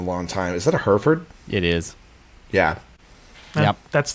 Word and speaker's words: Hereford: He says pronounced Hereford here in my neck of the woods, which I think the pronunciation we technically are supposed to say in America is Hereford, but I always grew up saying Yeah, Hereford. we call it Hereford.